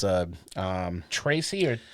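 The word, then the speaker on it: Trese: Netflix it's a um Tracy or it's t r s e okay and it's pronounced Tracy uh it's the last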